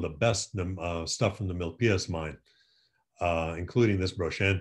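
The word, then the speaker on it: Milpillas: guy it's not the mil pilus minus the pias mine double l in spanish is pronounced as a y so that's your lesson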